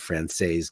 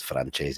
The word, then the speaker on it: Francese: He pronounces it Francaise because I guess he's been here. His family been here forever and ever and ever. But it's Francese, like chicken Francese.